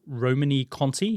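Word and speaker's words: Romanée-Conti: a particular wine called I think is pronounced like Romany Cony he's also then just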